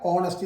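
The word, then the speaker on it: honesty: എച്ച് എന്ന് പറയാൻ പാടില്ല, ഓണസ്റ്റി എന്നേ പറയാം. അവിടെ എച്ചിന് ഉച്ചാരണമില്ല, നിങ്ങൾ ഓർമ്മിക്കുക.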